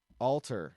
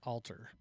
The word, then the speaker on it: Alter: Alter. Alter, which is not our version of alter, which is to change or uh some place of holiness.